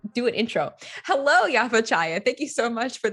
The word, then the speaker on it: Chaya: Chaya. I have some phlegm. Yeah. I nailed it. A little bit of phlegm goes a long way for pronouncing Yaffa Chaya.